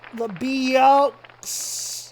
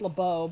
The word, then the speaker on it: LeBeau: Lebeux. It's actually pronounced LeBeau, but it's funnier to try to mispronounce it.